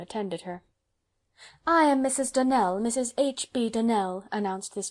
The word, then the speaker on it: Donnell: morning connected with the donald children clarice almira told me that you pronounced our name donal now miss surely the correct pronunciation of our name is donnell accent on the last syllable i hope you'll remember